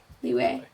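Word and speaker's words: Liyue: Liz, I would love to know how to pronounce Liu. Leeway.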